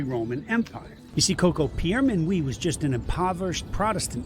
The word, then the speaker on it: Pierre Minuit: Well, his name was actually pronounced Pierre Minuit, but most people know him by Peter Minuit, because that was the Dutch pronunciation of his name.